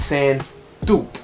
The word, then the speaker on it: Sand Taupe: so the word is french it derives from french so it's called the same dupe that's what's the name of this shoe so i found out today because i want to make sure i'm saying it right because yeezy has these crazy names and i can never say it right but guys you know i got you covered it's sand dupe now the send to